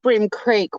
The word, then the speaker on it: Bream Creek: spelt like cream but it's pronounced brim like the fish um brim creek wines